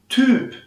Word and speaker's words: Typ: und dann über psyche psyche syrien syrien und typ guck mal der typ da der typ der